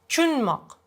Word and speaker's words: tushunmoq: Now you change it and you say, tushunmoq means to understand. And tushunmoq usually can be heard like chunmoq. Not tushunmoq, but chunmoq, like ch sound. Chunmoq. Like two syllables decrease to one.